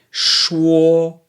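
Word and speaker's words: 说: the next word is sure sure which is Shu Oh in the first tone now sure means to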